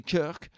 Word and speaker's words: Kirk: Prononcé Kirk, bien sûr, sinon ça ne fait pas américain et donc ça fait ridicule.